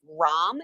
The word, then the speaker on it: ROM: many first of all is it ROM is that how you say it I've been saying ram my entire life okay Evo's gonna chime